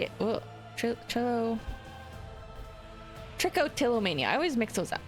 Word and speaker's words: trichotillomania: Trichomania, is that it? I always say it. Trichotillomania.